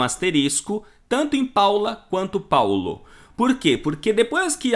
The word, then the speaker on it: Paolo: Paulo, não Paola ou Paolo. Isso foi uma invenção das novelas brasileiras e muita gente colocou nome de filho de Paolo ou Paola. Só que não existe na língua italiana. É Paulo, quer dizer, se escreve Paola e se fala Paula. Paolo, Paulo.